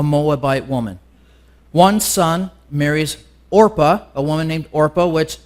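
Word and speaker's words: Orpah: Winfrey was actually named after was orpa but when she was a kid nobody could kept everybody kept saying Oprah and so she actually changed her name to Oprah from orpa because everybody was saying it wrong anyway yeah use that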